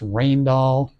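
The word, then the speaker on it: Rijndael: and so on and so forth and they selected this particular algorithm uh which is pronounced rainall uh I think it's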